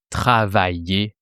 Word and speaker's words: travaillaient: Ils travaillaient là. So it sounds exactly the same as for he was working there.